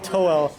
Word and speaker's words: Toel: I'm going to go with the first one I ever made, Toel. His name's kind of funny because the way it looks like it's spelled, it's just towel with an L at the end.